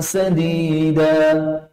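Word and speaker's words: سديد: Bukan syadid. Kalau syadid pakai shin titik 3, itu artinya keras, kasar. Tetapi yang disebut di sini sadid, sinnya tipis, tanpa titik 3.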